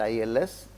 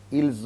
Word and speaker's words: ils: Now, il and ils, meaning is different, but the pronunciation is the same.